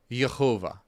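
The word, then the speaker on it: יהוה: Yud He Vav He is typically pronounced as Yehovah.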